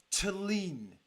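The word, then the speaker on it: Thelin: the strongest which is Jimmy Talen is how you pronounce it Jimmy Talen who is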